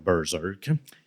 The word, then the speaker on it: Berserk: J'aime bien dire Bersek, mais ça va être Bzerk.